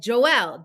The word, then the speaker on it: Joel: whole trading desk could hear it it said Joelle j-o-e-l and it said where the name was